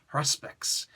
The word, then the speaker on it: haruspex: the way that I expected it to be pronounced. Haruspex.